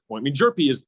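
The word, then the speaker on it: Hjerpe: Yeah, that's somebody that you've mentioned a couple of times because the last name doesn't look like how it would be pronounced. Just got to drop that H. Yeah. Jerpy he's one of 3 finalists for the Golden Spikes Award.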